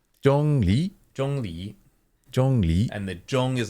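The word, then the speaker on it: Zhong: first first part again Jong Jong so it's like okay there's no z sound which is significant J it's more of Jong Jong any zh sound is more of a j j got it yeah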